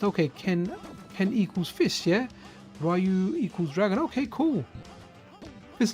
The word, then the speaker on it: Ryu: Ryu, yeah, is it Ryu? We always called it Ryu, man. That's how we called it in the UK. It was Ryu. Then I heard, yeah, it was Ryu, as people say it. But I kind of try and stick to my origins, man, even if they are incorrect.